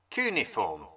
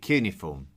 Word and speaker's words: cuneiform: Cuneiform. I call it cuneiform, but you will also hear it pronounced as cuneiform.